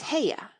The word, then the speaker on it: Haigha: happy his name is haigha he pronounced it so as to rhyme with Mayor I love my love